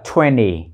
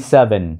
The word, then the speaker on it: twenty: 27 Bạn có thể nói "twenty" hoặc "twen-ny," bởi vì khi âm 't' đứng sau âm 'n', âm 't' có xu hướng biến mất.